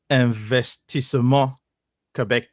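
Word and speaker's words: Investissement Québec: And for our English-speaking viewers, it's actually pronounced Investissement Quebec.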